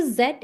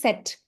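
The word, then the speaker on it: Zett: we have zed so zed is a kind of same pronunciation as s this symbol is not zed in German this is set like mathematics while set.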